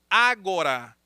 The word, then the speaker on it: ágora: vida pública chamado de ágora. É agora com acento. Ágora, assim que se escreve, tá bom?